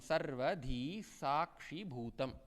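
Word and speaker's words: sarvadhī sākṣibhūtam: Sarvadhi sakshi bhutam. I have written SH for us to understand how we should pronounce this.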